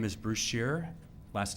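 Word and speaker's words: Scherer: My name is Bruce Shearer. Last name is spelled S-C-H-E-R-E-R.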